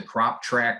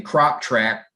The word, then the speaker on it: CropTrak: instructions tell you that you can download the crop track mobile app um from either the apple app